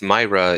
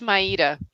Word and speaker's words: Maíra: many people know your name is actually not pronounced myra in in portuguese is it no it's not yeah i go by mario just because it's so much easier and it